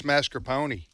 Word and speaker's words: mascarpone: said it's mascarpone, like a pony.